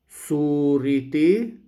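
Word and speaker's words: صورتي: When I want to say my picture, suriti, this would be the classical standard Arabic way of pronunciation, which doesn't change anything.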